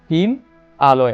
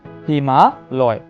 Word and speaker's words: হিমালয়: এর মূল অর্থটা হয় কিন্তু হিম আলয়, আমরা উচ্চারণ করি না হিম আলয়। আমরা এভাবে না উচ্চারণ করে ধ্বনির মাধুর্য সম্পাদনের কারণে আমরা উচ্চারণ করি হিমালয়।